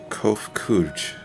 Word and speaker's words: Kof Kuj: As for nomenclature, to address my individual person, I believe it would be pronounced Kof Kuj.